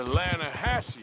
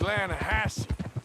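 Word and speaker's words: Lahatchie: trout you mean the atlanta hassey river no no no no no the the lana hatchi it runs right near here yeah but it's pronounced land hassey why is everything in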